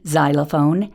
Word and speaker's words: xylophone: In more advanced words, X can say Z, as in xylophone and Xerox in the initial position.